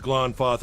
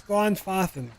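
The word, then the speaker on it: Glanfathan: Okay, I was close to pronouncing it right. It's Glonfothen. Glonfothen and Glonfoth.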